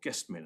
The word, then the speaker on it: Gestmin: Well, we haven't got it, but there's the well-known judgment in Gestmin, or Guestmin as it's sometimes pronounced, of Mr.